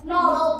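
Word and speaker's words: knob: কে সবকটাতে আছে কিন্তু কে এর উচ্চারণ একটাতেও হবে না যেমন ফাস্টেই আছে কে এমন ও কি হয় নব নব নব যেমন ফ্যানের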